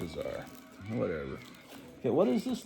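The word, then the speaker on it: Ka-Zar: one of those things Kazar versus kesar they say kesar and know but I've always pronounced a Kazar whatever okay what is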